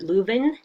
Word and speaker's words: Lewin: So some key figures in group dynamics: Kurt Lewin, Lewin, which is technically pronounced Kurt Leuven, is often he coined